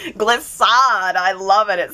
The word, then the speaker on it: Glissade: Glissade. Okay. Is that a great name or what? Because it's Gliss as in it rhymes with bliss, but it's also gliss